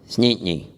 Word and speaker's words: St. Anthony: Anthony and Newfoundland, it becomes almost one syllable. You say, "Where you from?" They go, "Snitney."